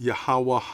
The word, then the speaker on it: YHWH: author of The Bible yhwh pronounced yahwah AA and his son